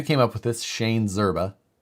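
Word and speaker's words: Szczerba: the guy who came up with this shane zerba it's s-z-c-z-e-r-b-a and he's he pronounces it zerba so because i actually know him he's a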